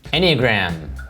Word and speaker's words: Enneagram: You talk about taking an is that how it's pronounced? Enneagram? Enneagram.